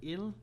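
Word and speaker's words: Ils: how to pronounce it, Il in French. Il. No, yeah, no S.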